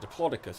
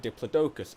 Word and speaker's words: Diplodocus: Like, the consensus is every way you can think of pronouncing it is correct. Is it Diplodocus? Is it Diplodocus? Is it Diplodocus? Probably not that one. But I prefer Diplodocus because it just sounds good.